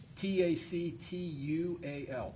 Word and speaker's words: tactual: Tactual, is that the way you say it? Is that Correct. the way it's pronounced? Tactual, tactual performance test, which